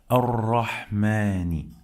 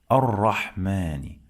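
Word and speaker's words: الرَّحْمٰنِ: We don't pronounce this lam because this is lam shamsiyah.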